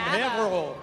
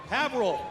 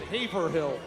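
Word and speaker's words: Haverhill: Hannah Tar from Havl. Havil. I used I had to but first time I moved up here I I had to pronounce it Haverh Hill.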